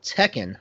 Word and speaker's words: Tekken: and speaking of teen another game that rhymes with tepen called Tekken I play that as well